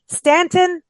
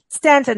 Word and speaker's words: Staunton: Stanton, not, but it's Staunton is how it's spelled.